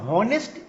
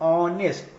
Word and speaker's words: honest: This is silent, this is also silent. So यहाँ पर मतलब इसको हम लोग हॉनेस्ट नहीं पढ़ते हैं या हावर नहीं पढ़ते, इसको हम लोग पढ़ते हैं ऑनेस्ट।